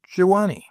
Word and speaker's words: Gioani: In it had engulfed the trails long before we made the descent into the village of Gioani, which I may as well say at once is pronounced Jawani.